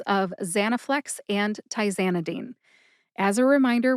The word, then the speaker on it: Zanaflex: Zanaflex, like many brand name drugs, only has 3 syllables. That's ZA, like the ZA in the name Tarzan, ZA, na, like the na at the end of the word banana, and flex, like you flex a muscle.